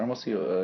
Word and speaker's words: Hermosillo: I was in Hermosillo, which is how do you pronounce it? Hermosillo, and it's a pretty big town, and it's